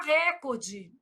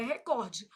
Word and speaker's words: recorde: Ô, Flávio, mas por que que todo mundo fala recorde? Não sei. Mentira. Se influência do inglês, né, gente? Mas o certo é recorde.